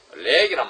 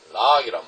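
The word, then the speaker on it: Lough: 이게 A력으로 렉이란 말, 발음도 이상하죠. L-O-U-G-H. 이 렉이란 말, 락이란 말, 렉이라 해도 좋고 락이다 좋은데 락.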